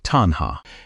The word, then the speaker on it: tanhā: The word is tanha. Say it like tanha.